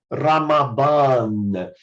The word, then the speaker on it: Ramadan: Mas se você quer praticar a pronúncia perfeita, diga aí Ramadan.